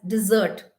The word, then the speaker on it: dessert: that we have after our meals that is pronounced as dessert so d-e-s-s-e-r-t but the correct pronunciation is d